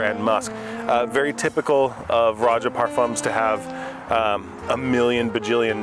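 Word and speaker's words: Roja Parfums: Abba is their clone of Kingdom of Saudi Arabia from Raja Parfums. By the way, if you're in America, it's Raja Parfums, not Roja, whatever. You can remember it's like pronouncing Roger, but you're British.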